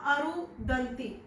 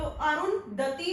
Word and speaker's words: अरुंधति: किया, मैंने स्पेल किया अरुदंती, लेकिन इनके जो नाम का स्पेल है वो है अरुंधति, और मैंने स्पेल किया अरुदंती। ठीक है जी, तो ये मेरी मिस्टेक थी। तो अरुंधति इनके नाम का करेक्ट प्रोनाउंसिएशन है, और जो मैंने बोला वीडियो के अंदर अरुदंती, ये करेक्ट नहीं है।